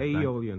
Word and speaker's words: Aeolian: Paul Whiteman, commissioned for his first concert at Odeon Hall. That's quite right. Aeolian Hall. Thank you very much. You can't. It's hard to pronounce that A-E. Sometimes W and Y.